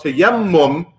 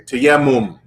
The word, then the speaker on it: tayammum: to make mention of tayammum, right? Not what do we Americans say? Tayammum, I think we say in America, right? But it's tayammum, right?